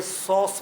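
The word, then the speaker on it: psoas: है बड़ा important muscle इसको कहते हैं सॉस muscle सॉस पी एस ओ एस पी के बाद वल नहीं है तो पी साइलेंट हो जाता है य अंग्रेजों का फंडा है अब जो उनकी मर्जी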